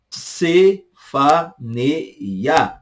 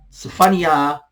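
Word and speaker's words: צפניה: Sefania, Sefania, Sefania, Sefania, Sefania. Ok? Sofonias, português, Sefania, hebraico. Ageu, português, Hagai.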